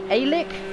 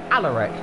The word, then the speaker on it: Alaric: People saying, oh, of course, can't exactly pronounce your name, so I'm gonna say Alic. I think it's Alic. Probably pronounced that wrong. Alaric.